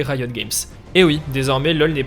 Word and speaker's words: Riot Games: Car si depuis le début de cette vidéo je nomme ce studio Riot Games, en réalité la prononciation exacte aurait plutôt été Riot Games.